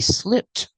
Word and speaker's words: slipped: in the past slip we hear the Ed making the T sound link The Sounds together slip SLI he slipped on the ice we